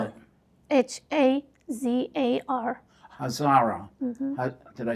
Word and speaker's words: Hazara: Spell it. Hazar. Hazara. Mm-hmm. Did I say it right? Mm-hmm. Hazara.